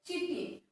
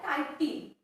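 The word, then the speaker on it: chitin: And complex sugar, तो उसे हमें क्या बोलते हैं चिटिन, और उसका नेक्स्ट प्रोनाउंसिएशन क्या होता है काइटिन, तो ये इंपॉर्टेंट है। Cell wall is made up of tough and complex sugar, उसे हम चिटिन और काइटिन बोलते हैं।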